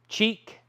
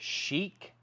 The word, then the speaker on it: Chic: Cheek, or as some people say, Chad, you should pronounce it, Chic, $9.99.